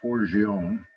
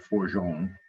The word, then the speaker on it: Forgione: uh a couple lauren forgione she pronounces it for jean when i said it for gion she said you must